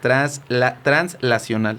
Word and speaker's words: translacional: No con N, como yo lo pronuncié, es translacional.